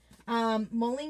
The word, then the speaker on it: Moling: Moling is my last name pronounced like Molly, not Mole.